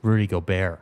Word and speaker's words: Gobert: It's Rudy Gobert.